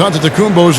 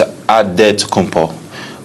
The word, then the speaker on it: Antetokounmpo: The Nigerian way, you gotta say it with a D. So it's Antetokounmpo. but in the Greek way, you say with the NT, like Antetokounmpo.